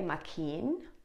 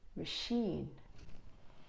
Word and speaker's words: machine: k, k, k, but it can also sound like sh. No ch, but sh. Look at this example. Could you read this word again? Good. So here it's a K sound, mechanic. But here we don't say machine, we don't say machine, but we say machine.